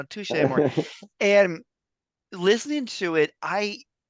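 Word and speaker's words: Touché Amoré: appreciate that um because I was like touch am more no so you know tou more and listening to it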